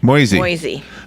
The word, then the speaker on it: Moisey: Melody, how do I pronounce her last name? Mosey. Like noisy. Moisey. Melody Moisey.